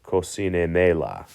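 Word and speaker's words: cocínemela: So it's got three syllables. Co-si-ne. So if you remember, if it ends with a vowel N or S, the stress falls on the next to last syllable, which is si.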